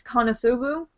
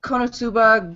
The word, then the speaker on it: Konosuba: I'm saying it correctly I believe it's kosu nope not even close k I mean I guess you were off two two syllables but there's only four so um no it was konosuba God's blessing on this world